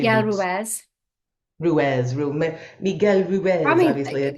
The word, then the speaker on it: Ruiz: Miguel Roots? I always Don want to say Miguel Roots. Ruiz.